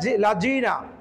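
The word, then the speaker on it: الذين: সিরাতাল সিরাতাল লাজিনা লাজিনা এখানে জিনা আমাদের হয়ে যায় লাজিনা সিরাতাল লাজিনা লাজিনা তো লাজিনা ভুল সঠিকটা হবে লাজিনা লাজি জিহ্বার আকার সামনের উপরে দুইটা লাগার সঙ্গে লাগিয়ে উচ্চারণ করে এক কথায় নরম করে পড়তে হবে সহজ ভাষায় যদি বলি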